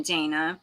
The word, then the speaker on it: Dana: thank you i am dana well welcome in dana rhymes with banana dana dana not dana